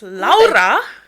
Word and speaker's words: Laura: Laura. Yes, me. That's the correct Estonian pronunciation, by the way.